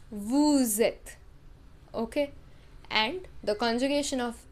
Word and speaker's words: vous êtes: the last consonant, but in case of vous êtes, since the next word begins with a vowel, we pronounce the last consonant in vous. This is called the rule of liaison. Okay, that we pronounce the last consonant in vous. So it is vous êtes.